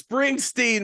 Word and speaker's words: Springsteen: And by the way, sacrilegious, I mispronounced his name. It's Springsteen.